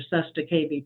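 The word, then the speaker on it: cestui que vie: walk in, they get 3.3 million off your Sesta KB trust. And I'll spell that for you if you want, but it's CESTUI space QUE space VIE trust.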